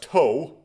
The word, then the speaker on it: と: Okay, so this right here is pronounced toe, and it's a conjunction.